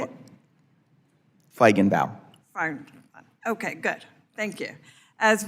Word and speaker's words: Feigenbaum: Feigenbaum.